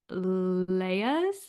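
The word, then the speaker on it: Lyre's: that um but it's a non-alcoholic brand called leas which is spelled l y r e apostrophe s and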